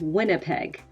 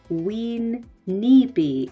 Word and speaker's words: Winnipeg: in cities in canada such as winnipeg winnipeg was probably wean nippy and that means muddy water so